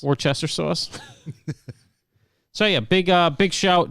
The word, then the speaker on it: Worcester: I believe it's Worcester. The like pronunciation. The sauce. Just like the sauce. Worcester sauce.